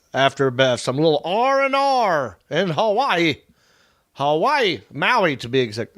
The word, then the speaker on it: Hawaii: revived with a lot of energy after some little RNR in Hawaii. Hawaii. Maui to be exact. Actually, they say it like this. Havaii.